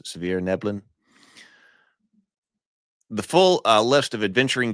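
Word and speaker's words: svirfneblin: I suppose you don't say the F here, or too much of the S, Svirneblin.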